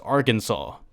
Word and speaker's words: Arkansas: in the united states that spelled Arkansas but pronounced Arkansas riddle me that guy's romy that man this